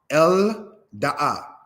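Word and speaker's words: אֶלְדָּעָה: The aleph is mute. Lamed makes what sound? The L sound. El Da'a.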